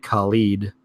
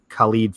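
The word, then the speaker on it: Khaled: the celebrities is DJ collied I think his pronounced keep kha l ee d DJ collied I think anyway this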